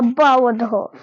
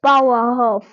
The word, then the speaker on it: Bauernhof: This is a Bauernhof. Okay, just like a bow, just like a dog also say bow, and there's a couple of Bauernhof.